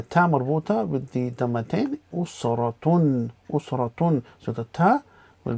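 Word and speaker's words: أسرة: usra, and the ta marbuta with the dhammatain, usratun, usratun. So the ta will be changed to a normal ta before pronouncing it, so usratun, which is family.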